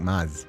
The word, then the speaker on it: Mads: The D in Mads is silent. Sounds like Maz with a short vow.